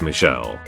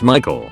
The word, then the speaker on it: Michael: was Michael and again this girl was adamant it was pronounced Michelle mop the mused said something along the lines of it's literally a name from the Bible it's pronounced Michael and has been for thousands of years the receptionist sat in